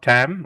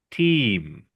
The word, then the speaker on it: team: So it's not team it's it's not tam or tm it's team.